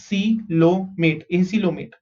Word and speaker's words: acoelomate: Okay, so the first one we are seeing is acoelomate. Okay, how do you pronounce this? Again, O is silent. A को अलग से pronounce कर दो. C is C, L-O is low, M-A-T is mate. Acoelomate.